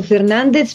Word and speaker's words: Fernandez: o Fernandez Com'è il Dove cade l'accento Esatto io ho sempre detto Fernandez perché è una pronuncia istintiva Popolare che non ha niente a che vedere con lo spagnolo Ok allora condividiamo Fernandez